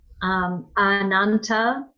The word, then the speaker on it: Ananta: couch of Lord Vishnu I would not be surprised if it was a long a but I don't know oh no it's not it's a regular as because here it is